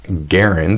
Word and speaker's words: Garand: there you have it it's pronounced garand as if it rhymed with Aaron Aaron case closed well not entirely see John garand was born in a farm in st.